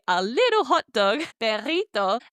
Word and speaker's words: perrito: So I added that to say a little hot dog, perrito, and I knew that this had a double R in the word. So I pronounced it as that trilled, rolled R sound.